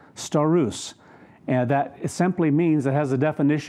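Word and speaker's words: σταυρός: not accurately translated here it's a Greek word star ruse st if you'd spell it in english it's with the letters it's s ta u ro s star ruse and that it simply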